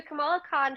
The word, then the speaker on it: Kamala Khan: And so Kamala Khan, I think it's Kamala Khan. Let me double check just to make sure I'm not saying it wrong. One second. Yes. Okay. So Kamala Khan, she's appeared in other, I think, comics before